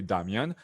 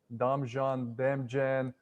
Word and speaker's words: Damjan: outside world from croatia in croatia you'll be damian but do you sometimes go to that like i'm damien no i don't have to do that i say damian but they always pronounce it damian and it's even worse when they see it written they say damshan oh so so sometimes